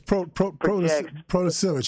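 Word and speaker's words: Protasiewicz: Democratic-backed Janet, and I don't know how to pronounce her last name, Janet will win Wisconsin Supreme Court election. Yeah, it's Protasevich.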